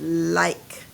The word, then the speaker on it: like: But I'm going to add that silent E at the end and change this from a I to. Now, what word is it? It's the word like.